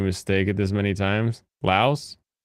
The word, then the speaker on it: Laos: you pronounce the s in English you pronounce the s people in the laosian language do not they just call it